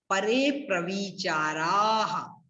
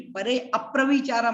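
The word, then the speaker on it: परेऽप्रविचाराः: उसके पहले यहां थोड़ा सा उच्चारण में ध्यान रखिए, परे अप्रविचारा मत बोल देना आप लोग, वो ठीक नहीं रहेगा। यहाँ पर संधि है इसलिए अवग्रह लगा है, एस की तरह जो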